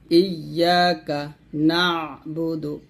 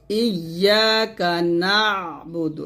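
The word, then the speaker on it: إِيَّاكَ نَعْبُدُ: ধরবে ইয়াকা ইয়াকা এরকম ইয়াকা নাবুদু। এখানে নাবুদু কিন্তু না, এই যে কমা মান হচ্ছে এখানে সাকিন মানে আইন উচ্চারণ হবে, নুন আইন যাব না এরকম ইয়াকা নাবুদু ওয়া ইয়াকা নাস্তাঈন ওয়া ইয়াকা নাস্তাঈন।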